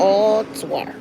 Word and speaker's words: Ottawa: But I've come to know that it's Ottawa.